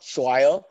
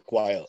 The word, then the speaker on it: choir: listening it's a not schweier this they pronounce it wrong it's a choir with the ch it's like chaos uh but growing up